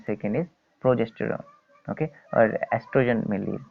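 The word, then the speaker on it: oestrogen: One is estrogen and second is progesterone. Okay, or estrogen mainly is called. Okay, O is silent in this.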